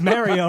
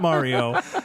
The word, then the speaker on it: Mario: It's Mario, not Mario.